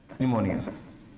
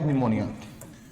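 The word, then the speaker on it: pneumonia: मैं लिख रहा हूं, यहां पे पी होता है चुपचाप बैठा है इसमें, निमोनिया। तो पी से आपकी दो बीमारियां, प्लेग और निमोनिया। तो निमोनिया में पी है जो साइलेंट है, ठीक है।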